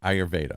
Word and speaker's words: Ayurveda: it how do you praise is the practice ayurveda ayurveda okay so in ayurveda or ayurvedic would that